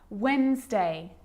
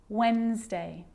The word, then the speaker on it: Wednesday: that's the silent sea so what about the letter D yep it can be silent too Wednesday handsome sandwich so I'm